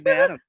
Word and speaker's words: Badham: It is Badham. and, see, just like John Badham, who was the great director and brother to Mary Badham, who played Scout in To Kill a Mockingbird.